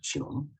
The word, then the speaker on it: 게놈: 근데 이 게놈이라고 하는 것은 독일어죠. 독일어 발음입니다. 게놈. 독일어식으로 발음할 때 게놈이고 영어로 발음할 땐 지놈이라고 그래요. 지놈.